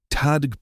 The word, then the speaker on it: Tadhg: "It's pronounced like tiger without the ear," Bethany explained patiently.